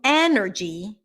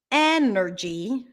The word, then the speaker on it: energy: in the chat so energy energy the stress is on the first syllable e that's a pure e sound e e Nur G